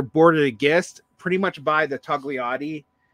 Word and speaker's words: Togliatti: Later, Bordigists, pretty much by the Togliatti, I'm never sure if you pronounce the G. I think I've been told you don't, but I can't help it.